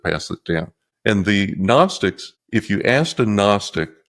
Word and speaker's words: Gnostics: And those were the so-called Christian Gnostics, Gnostics with a silent G.